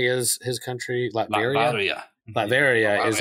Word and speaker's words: Latveria: Latveria.